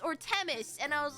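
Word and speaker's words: Themis: And I was like, "It's an aspirated t. It's te t teis or whatever." And I am going to continue to pronounce it wrong and make everyone unhappy anyway. So, yay. I'm just going to keep on pronouncing it incorrectly, but I'm going it is Teis Teis.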